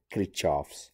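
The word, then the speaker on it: Kirchhoff: according to krishav's um krikov or krishov's people i mean pronounce it a different way i'll go with kritchoff's voltage la or christoph's world current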